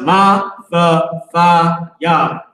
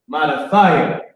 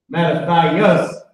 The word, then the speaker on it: Mattathiah: Now, it's pronounced Ma-tha-tha-ya. All right, it's H4993. Mattathiah. Mattathiah. It's Mattathiah or Mattathias in the Greek.